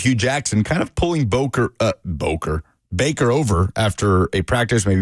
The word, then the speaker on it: Baker: Whatever happened to old Boker Mayfield? You think he actually slipped up, or you think that's just the way that he'd been pronouncing Baker Mayfield's name his entire life?